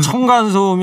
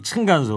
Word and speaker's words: 층간소음: 청간소음이 아니고 층간소음.